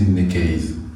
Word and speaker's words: Neka: J'ai N e mais c'est moi je préfère prononcer je préfère prononcer je préfère le prononcer ne case ça glisse plus.